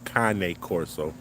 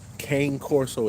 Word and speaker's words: Cane Corso: So, um, it's not Kang Corso, it's Kanye. Kanye Corso, y'all. Make sure y'all get that right.